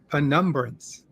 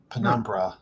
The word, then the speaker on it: penumbra: in many many years penumbrance is that how you pronounce it by numbers penumbra is my understanding okay uh i would